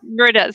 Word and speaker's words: Marita: Marita. So there's this Mexican city called Merida, and it's spelled with M-E, and then she's Marita, spelled M-A. Marita. So I'm like, I always have to think about it.